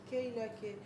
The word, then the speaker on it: Keyla K: préféré dire en français, on a préféré prononcer comme ça en français, Keila.